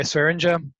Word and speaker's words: Swearinger: They've already got DJ Swearinger. I pronounced that right?